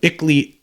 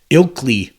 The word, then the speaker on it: Ilkley: following this Spencer was returned to ickley ilkley Moore I'm for not keep pronouncing that wrong it's ilkely more where he then took